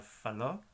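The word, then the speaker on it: falou: Bueno, hay una combinación de letras O-U y eso se pronuncia como O solamente. Por ejemplo, la palabra faló, habló, él habló en el pasado, él faló, ella faló también.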